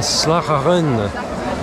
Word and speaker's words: Slagharen: une fin de journée ici à Sarah Rennes puisque c'est comme ça qu'il le prononce à peu près je crois que c'est